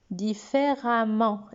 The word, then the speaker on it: différemment: Différemment, et ça se prononce a.